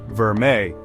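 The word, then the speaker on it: vermeil: Another term you might come across, especially on pieces with a sterling silver base, is vermile, pronounced verme.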